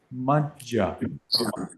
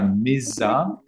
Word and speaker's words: majja: Sura Meraya Majja. Some of you say Sura Meraya Mizza, but there is no Mizza here. There's only Majja. Majja. No Mizza here. Majja. It's only Majja.